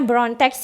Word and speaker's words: BRTX: ini ada BRTX ya, singkatannya tuh BRTX. Nah, kita bacanya Brontex ya, ini BRTX Texas 02,